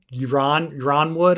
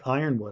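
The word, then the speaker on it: Ironwood: beginning like i first i always thought it was iran ronwood or something and then people are just like no it's like iron wood i was like oh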